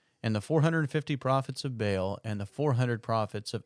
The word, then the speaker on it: Baal: Jezebel, again, has, even though it's spelled B-E-L, is B-A-A-L. This is the god Baal.